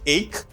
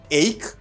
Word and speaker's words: ache: remember i have been talking about this people pronounce it as h now it's ache ache and for example you can say our earache